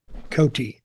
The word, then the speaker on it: Coty: Cotty or Coty. C-O-T-I. Coty. Okay. Coty.